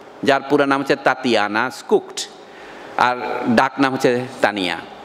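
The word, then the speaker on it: Schucht: যাদের ফ্যামিলির নাম জার্মান নাম দেখবেন স্কুকট এস সি এইচ ইউ সি টি বা সি এস এইচ টি স্কুকট family ইংরেজরা হয়তো স্কাক্ট বলবে এটা জার্মান রাশিয়ান ফ্যামিলি এবং বলা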